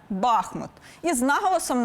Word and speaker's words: Бахмут: усе ж зауважу нині словники фіксують саме Бахмут із наголосом на першому складі називайте краще Бахмут чи Бахмут але точно не артемовськ чи Артемівськ перенесімося з Донеччини на сумщину